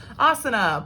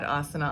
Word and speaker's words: asana: here the whole time asana pose slash posture so a-s-a-n-a and like i said with the rule with the s-h um with the s-h sound on an s obviously here not being used so it's sort of